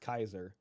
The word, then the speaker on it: Caesar: derivative of that and I think Caesar's a wrong pronunciation it's actually SP pronounced Kaiser so uh I I